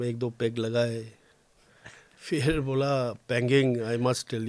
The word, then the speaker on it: Panging: तो क्योंकि मेरा नाम थोड़ा प्रोनाउंसिएशन में तकलीफ होता है, पैंगिंग, तो उसको कई बार लोग बैंगिंग बोल देते हैं, कई बार पेंगुइन बोल देता है, कई बार हैंगिंग बोल देता है तो ये डिप्टी